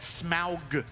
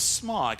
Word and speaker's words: Smaug: In the live-action movies, it's Smaug, but in the animated movie, it was Smog.